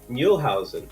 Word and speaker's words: Muehlhausen: snackable solutions and i am here with jim muelhausen jim did i get your name right you